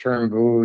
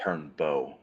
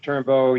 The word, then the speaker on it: Turnbull: Turnbull, you went over this plea form with Ms. Stewart as well. Is that correct? Yes, and for the record, it's pronounced Turnbow.